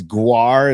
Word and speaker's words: GWAR: Maybe I should have taken that person up on seeing that band, because I'm just like, and I think it's Gwar is how they pronounce it.